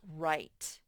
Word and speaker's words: write: like the word wrote the word right has a silent w so this word says right right this e you haven't got to this lesson yet makes the vowel the i say its real name i so it's right you have to remember